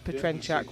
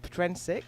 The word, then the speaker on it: Petrensik: I tease him by saying it's Petrenchak, which would be the Czech pronunciation, but Steve pronounces it Petrensik, so I'll do him the courtesy of pronouncing his name as he would like it.